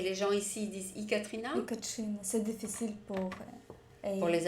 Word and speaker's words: Ekatrina: On prononce pas le E. Ekatrina.